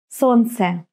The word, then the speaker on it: Солнце: Солнце. Солнце. Right. L is mute. I'm not pronouncing it.